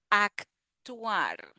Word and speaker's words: actuar: Actuar. So here again, the C has the sound of the K.